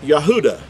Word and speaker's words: Yehuda: an example the word English word is Judah but in Hebrew it would originally been pronounced Yehuda the Yahoo da is the is the last letter here of the word Yehuda and it's pronounced with that ah sound it's at the beginning of a word it makes the ha but in the end of a word it makes the ah sound okay we'll go in